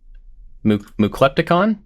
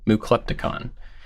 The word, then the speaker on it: Muklepticon: Muklepticon? He said it was like Decepticon. Oh. Muklepticon.